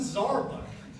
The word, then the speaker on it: Zarbuck: Zarbuck, where is he? He's got the red shirt, once told me his name rhymes with Starbucks.